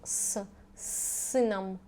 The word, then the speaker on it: с сыном: Pronunciation will be like long с сыном.